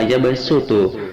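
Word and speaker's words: يبسط: Di antaranya adalah yang pertama, yabsutu surat Al-Baqarah ayat 245 dan basto surat Al-A'raf ayat 69. Shadnya harus dibaca sin menjadi yabsutu dan basto.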